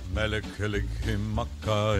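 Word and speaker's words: Mele Kalikimaka: Mekalikimaka is a thing to say on a bright Hawaiian Christmas day.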